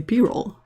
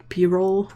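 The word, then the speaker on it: Pyrrole: might do the a did you know that it's actually b-roll like what what bothered me was that the dude works with paints all day long and and it hasn't been brought to his attention that it's payroll that's just weird it's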